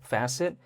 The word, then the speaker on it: Facet: So, it's spelled asset but then with an F in the beginning, so Facet.